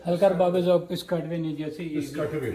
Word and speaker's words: حلقہ ارباب ذوق: ये exact pronunciation है हल्का बाब ज़ौक़ पिस्काटवे न्यू जर्सी, पिस्काटवे।